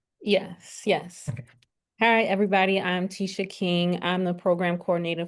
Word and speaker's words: Tisha: Tisha, is that how you pronounce it? Yes. Okay. Hi, everybody. I'm Tisha King.